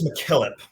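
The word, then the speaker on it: MacKillop: right I believe it's McKillip mckp um yeah she's a Scottish in rout and and it's um usually it's Mack is how it goes yeah that makes sense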